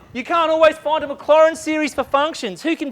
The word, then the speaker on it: Maclaurin: And so no, the T is silent. Yes. So no Maclaurin series. It's French. The T is silent. Sounds a bit German.